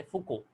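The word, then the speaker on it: Foucault: वैसे इसके बारे में सबसे पहले फुको साइंटिस्ट का नाम है, ओके, वहाँ पे एल और टी साइलेंट है, तो फुको ने बताया था, इसलिए इसको eddy currents are also known as फुको currents.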